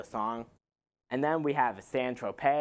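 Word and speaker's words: San Tropez: and then we have sand Trope which is spelled sand Tropez but this song's fine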